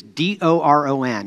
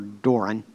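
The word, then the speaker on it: δῶρον: That word gift there is in Greek is D-O-R-O-N. I believe it's pronounced Doron or Doran.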